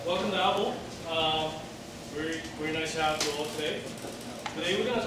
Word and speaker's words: Avvo: This is the official pronunciation of Avvo.